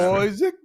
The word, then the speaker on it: Isaac: His name is Oscar Isaac. That's how it's pronounced. Isaac.